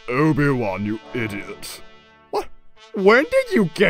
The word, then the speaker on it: Obi-Wan: Obadiah? Oh, it's pronounced Obi-Wan, you idiot.